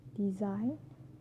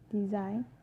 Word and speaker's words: design: So letter G can be also silent too. For example, sign, champagne, design, foreign. Sign, champagne, design, foreign. All these examples have a silent G, and the combination of